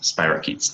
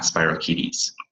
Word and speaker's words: spirochetes: Yes, it is pronounced spirochetes, not spirochetes.